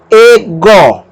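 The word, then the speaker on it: ἐγώ: Aspiração branda sobre o Y não altera o som, então vai ficar E-go. E-go é a pronúncia dessa primeira palavra. Nós pronunciamos E porque esse Y está com uma aspiração branda, que não altera a sua pronúncia.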